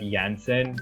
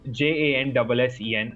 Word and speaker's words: Janssen: party, okay, and we got this mail that Janssen in brackets they had written J&J is coming to campus tomorrow. Okay, so it's JANSSEN.